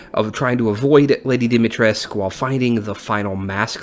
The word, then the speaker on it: Dimitrescu: because i can hear lady dimitrisk which apparently that's how it's actually pronounced we find that out